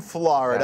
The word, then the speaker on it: Florida: Yeah, not Florida, Florida. F-L-A-H.